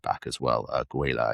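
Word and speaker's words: Guéla: Guela, I believe is how you pronounce it.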